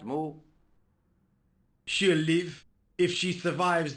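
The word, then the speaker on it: Moue: I could spell differently I think it's spelled m-o-u-e but it's pronounced moo thanks there's not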